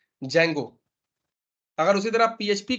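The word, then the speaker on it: Django: अगर आप पाइथन का बात करो तो ये है जैंगो, ठीक है, इसमें डी साइलेंट होता है, जैंगो।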